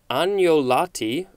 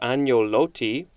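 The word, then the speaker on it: agnolotti: k-n-o-w next we have anjolatti or anyoloti it looks like this it would probably be an italian word it is spelled a-g-n-o-l-o-t-t-i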